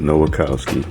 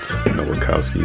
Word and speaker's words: Nowakowski: Okay, so as you can see, I have replaced the name with Nowakowski. Nowakowski. So it has 4 syllables versus 2. I love that. Nowakowski.